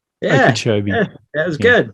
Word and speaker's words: Okeechobee: Try and pronounce that. Okeechobee. Yeah, Okeechobee.